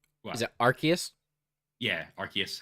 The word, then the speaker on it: Arceus: Is it Arceus? Yeah, Arceus, how you actually pronounce it.